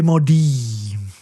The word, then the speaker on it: Maudits: The T is sort of silent at the end. What? You, Tom, does this translate into numbers? Maudit. Yes, exactly. Okay. Okay, so both T and S is silent.